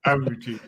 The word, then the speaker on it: Abuchi: is Apuche? Let's start from there. Who is Apuche? How do you describe yourself? Is it That is Abuchi? Like, that's the Abuchi. right pronunciation. Thank It you. is Abuchi.